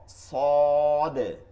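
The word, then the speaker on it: صاد: সয়াদ আর দোয়া না সদ সোজা উঠে যাবে সদ আর তনাও নাই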